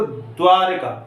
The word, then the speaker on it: द्वारका: इसी तरह यहाँ पे, इसी तरह यहाँ पे, क्योंकि जब हम इसका उच्चारण करते हैं तो द्वारका पहले हमारे मुंह से उच्चारण होते समय द्वा यानी द पहले आता है।